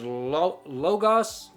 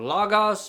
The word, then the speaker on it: logos: this word in Greek is logos or Lagos people pronounce it differently uh it's a big